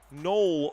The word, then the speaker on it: Noel: Um Noel Noel rhymes with hole, my man.